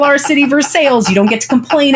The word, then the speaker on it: Versailles: If we call our city Versailles, you don't get to complain about how anyone else says Louisville. You just don't. Point. Like the official pronunciation is Versailles? Yeah.